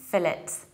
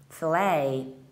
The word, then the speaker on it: fillet: and the British accent we say and should be fill it fill it so we reduce the ending fill it so the Americans treat this word in a very French way and they pronounce it in a usual way they pronounce words of French origins of stressing that second the last syllable fillet and chili fillet and